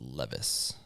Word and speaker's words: Levis: Oh, it's pronounced Levvice, right?